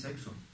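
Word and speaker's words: sechs: que en alemán es sexo, ¿no? ¿Sabéis alemán alguno? Se dice Orfidense. S-E-C-H-S, y se pronuncia sex, sex.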